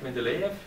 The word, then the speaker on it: Mendeleev: him here, to Dmitri Mendeleev, I hope I pronounced it right, Mendeleev?